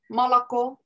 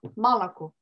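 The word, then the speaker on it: молоко: Comme par exemple, vraiment enregistrer dans sa mémoire que Malaco, c'est un O qui se prononce A. Malaco.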